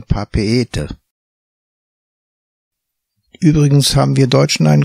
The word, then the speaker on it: Papeete: So spricht sich die Hauptstadt Papeete auch nicht Papeete, sondern Papeete.